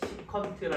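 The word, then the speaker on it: secant: 그다음 얘는 SE세타라고 하고 얘는 읽을 때 시컨트라 할 거요. 그다음 얘는 C타라고 하고 읽을 때는 코탄젠트라고 읽어요.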